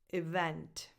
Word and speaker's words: event: Event. Event. The stress goes on the second syllable, so on the second E, on the second vowel.